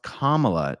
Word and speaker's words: Kamala: Is it emphasis on the first syllable or emphasis on the second syllable?